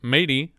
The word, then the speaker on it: Madie: mr leverington here we cut to mrs leverington matey but it's pronounced like she's a pirate